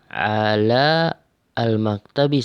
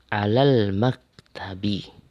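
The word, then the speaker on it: على المكتب: Ala al-maktabi, salah. Tapi langsung baca alal, langsung ke lam. Alal maktabi. Alal langsung ke sini.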